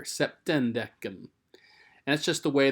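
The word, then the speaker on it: septendecim: septem notice the m has changed to an n here septendecum and that's just the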